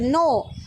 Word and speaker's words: know: know, KNOW, नो. बच्चों, जब हम ये वर्ड नो पढ़ेंगे, इसे हमें KNOW नो पढ़ना है, नो. ओके, तो ये जो के है वो साइलेंट है.